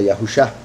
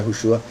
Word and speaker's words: Yahushua: Y lo digo, ¿verdad?, porque hay gente que pronuncia Yahusha. Curiosamente, ¿verdad?, como he dicho, hay varias revelaciones en la escritura que muestran que la pronunciación sería Yahushua.